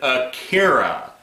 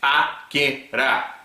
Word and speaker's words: Akira: No, you said Akira. It's Akira. You have to remember, the Japanese language is very syllabic in its pronunciation.